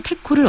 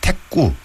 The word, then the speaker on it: 택호: 네, 그 경남에서도 그 표준어와 같은 발음인 태코, 이제 이런 말이 울산에서 쓰이긴 합니다만은, 네. 절대 다수의 경남에서는 태꾸, 이렇게 태꾸. 발음합니다. 그리고 진주를 비롯한 서부 경남 일부 지역에서는 태꼬 이렇게라고 또 하죠.